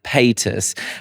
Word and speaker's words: Paytas: done a deep dive into is actually Trisha Pis. Is that how you pronounce her name? Yeah. Trisha Pis.